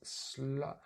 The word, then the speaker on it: slow: So I meant this one is the O, slow, and these are the ow. A bit like you hurt your head or something. Ow. Now, cow. Slow, now, cow. So slow, as you can see here, is the odd one out.